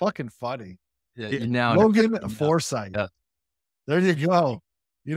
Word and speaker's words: Forsyth: leave that because it's funny foresight yeah there you go you know what so